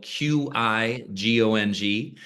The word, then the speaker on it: Qigong: And Qigong, remember, guys, it's spelled Qigong.